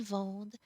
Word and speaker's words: vendent: should be en, but you do not pronounce that sound. You just pronounce it as if it was like a silent E. Ils vendent, elles vendent. So we just hear that D.